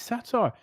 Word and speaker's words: satyr: already a word no i think it's satire s-a-t-y-r well if that's how